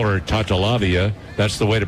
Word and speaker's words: Tatalavia: Coach told me that if I call her Tatalavia, that's the way to pronounce it, but nobody who would know who I was talking about, so call her Tootie.